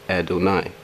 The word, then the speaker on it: Adonai: reference h1 36 Strong's reference a 23-6 is pronounced Adonai Adonai is also a title used as a